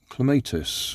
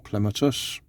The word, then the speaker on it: clematis: Whiz Toys, FLORIST, CLEMATIS or CLEMATIS, depending on how you like to pronounce it.